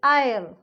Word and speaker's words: aisle: अब इसको हम आइसल नहीं बोलेंगे, इसको हम बोलेंगे आयल, AISLE, आयल. S silent है.